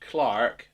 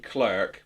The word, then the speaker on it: clerk: I know in the UK, which is where I'm from, I know it's pronounced Clark, desk clerk, but for